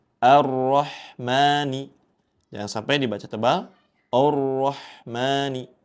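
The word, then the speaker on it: الرحمن: Ar-Rahmani. Ya. A di awal dibaca tipis. Jangan sampai ikut dibaca tebal. Di sini ya. A. Ar-Rahmani.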